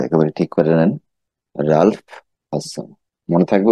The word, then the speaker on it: Ralph Hodgson: রালফ হডসন। উচ্চারণটা একেবারে ঠিক করে নেন, রালফ হডসন।